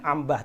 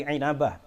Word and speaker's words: Inabah: inabah inabah inabah bahasanya Bacanya jangan Ambah tapi inabah wafat 828 Hijriah dalam